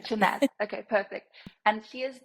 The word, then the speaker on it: Shahnaz: Is that how I pronounce your name? Yes, that's how you pronounce it, yeah. Shahnaz.